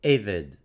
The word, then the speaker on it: eved: And Eved, E-H-V-E-D, accent on the first syllable, Eved.